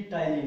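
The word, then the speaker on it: ptyalin: Name समझ लो कि टाइलिन है। ठीक है, तो टाइलिन में आपको ध्यान देने वाली बात है कि टाइलिन पी से स्टार्ट होता है, पी इसमें साइलेंट है, PTYLIN।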